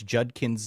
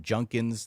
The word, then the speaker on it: Judkins: Quin Sean Judkins yes it's Judkins not junkins the way that Kirk